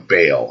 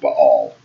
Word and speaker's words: Baal: You guys call him Baal. I pronounce it Baal.